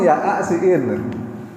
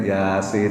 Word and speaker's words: Yasin: Coba baca Yasin. Kalau dari Latin apa bacanya? Ya'asiin. Kan tulisannya emang Ya'asiin. Jadi kalau orang belajar baca Al-Quran nggak ada guru, itu jadinya begitu. Ya'asiin. Nah, harus bacanya Yasin. Maksudnya adalah panjang.